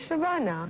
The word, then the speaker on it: Shabana: Because it rhymes with Shabana.